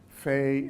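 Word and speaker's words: פ: rather than ba well a similar thing goes on with Fey and pay which is right there normally when it's by itself it's it's an F sound Fey but if you put in the coudé right there it becomes a pace ound okay as in Pepsi but if you look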